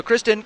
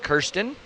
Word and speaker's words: Kirsten: counts that's right so Kristen coming up next are Kirsten uh pronunciation guide Kirsten she is uh this